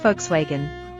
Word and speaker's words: Volkswagen: You got the English version right, but in German, it's pronounced Volkswagen. What? Volkswagen? That sounds so different. Yep. The V sounds like an F, and the W sounds like a V.